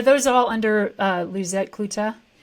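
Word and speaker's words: Coet: the show notes but your last name is pronounced clut and it's spelled c o e t correct that is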